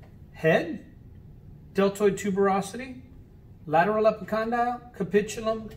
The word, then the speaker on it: capitulum: bond is the capitulum or the capitulum it's pronounced capitulum now the two bumps with the groove in